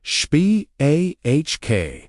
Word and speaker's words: Shbaq: The word was SH, pronounced SHBAQ. SHBAQ doesn't just mean forgive.